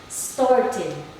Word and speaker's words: started: to make sure that we read the ed as id if the verbs end with the t or the d before the ed sound.